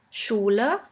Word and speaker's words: Schule: The next letter combination is SCH, which is simply pronounced like the letter combination sh. Let's have a look at a few examples. In English, you would simply pronounce it like in the word sheep, sheep. And in German, we have the word Schule, Schule, which means school.